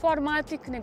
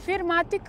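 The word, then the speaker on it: 4MATIC: I need to mention, as you corrected me in the previous review of this car, it's not pronounced "four matic", but "vier matic" (German).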